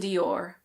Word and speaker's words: Dior: In American English it's usually Christian Dior. So you pronounce the R at the end.